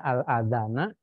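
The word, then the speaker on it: الأذان: al-azana adzan bunyi adzan bacanya al-adzana karena ini menjadi objek di dalam bahasa Arab itu kalau objek itu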